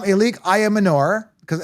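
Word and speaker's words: Ayomanor: Alec, they're pronouncing it like Alec Aomo Manor. But I call him Elique Ayam Manor. I think it sounds way better.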